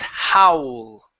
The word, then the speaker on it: howl: So, the difference in spelling hole. Okay. Hole is like howl is like this. That one howl. Okay. This one is closed mouth. Ho. Hole. Hole. There you go. That's the difference.